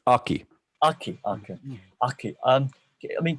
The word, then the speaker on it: Aki: what do you um sorry if i've been mispronouncing your name is is it okay it's aki aki okay um i mean could you give